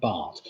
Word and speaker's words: baht: So cart will rhyme with baht.